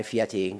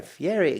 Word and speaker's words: Fieri: Guy Fieri right uh I say his name wrong all the time guy FTI Guy Fieri guy Ferrari all right I like that one Ferrari so we're with guy